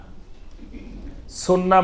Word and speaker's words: সুন্নাহ: কিন্তু এটা শুদ্ধ আরবি উচ্চারণ হলো সুন্নাহ। সুন্নাহ মানে হলো তরিকা।